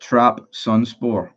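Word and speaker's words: Trabzonspor: It's pronounced Trap Sunspore. Trap Sunspor. Is it Trabonspor?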